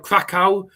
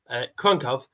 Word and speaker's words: Kraków: Wonderful city of Krakow, and it's not people call it Krakow. It's the W is pronounced V. The A has actually got the accent, so it's Krakow.